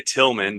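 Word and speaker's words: Tilghman: I can actually pronounce the name of his high school, which is Paducah Tillman, but Tillman is spelled weird. It's got a GH in there, but I may impress him with that ability to not call it something completely obnoxious.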